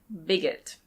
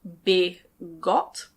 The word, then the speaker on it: bigot: Bigot. I know it looks like bigot, but we pronounce it bigot.